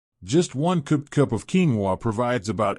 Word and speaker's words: quinoa: Pronounced quinoa, this small but mighty seed is a nutritional powerhouse that can play a big role in stabilizing blood sugar.